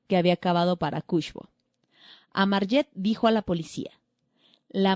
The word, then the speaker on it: Amarjet: Amarjet, estoy pronunciando más, estoy diciendo Armayet y es como Armageddon.